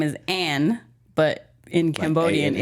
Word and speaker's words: An: it's supposed to be A-N, pronounced An. But when we came over here, they just read it as Ann and added an extra N, so it's Ann.